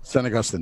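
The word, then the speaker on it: San Agustín: say now goostin binder sorry had Saint Agustin pronunciation hey go yes there you go san agustin there you go very oh man this thing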